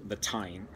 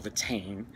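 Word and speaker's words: Táin: Iliad and it's called the time or the team or the timing depending on how you pronounce it the time is means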